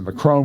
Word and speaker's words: Macron: in 2022 you see mccrone and and marie le pen there's a there's a big election in france this year uh their pronunciation by the way in the financial times is the macron will eventually prevail you